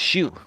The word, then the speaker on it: Xu: worth over a billion Tony Shu spelled XU but it's pronounced Shu notu Shu like as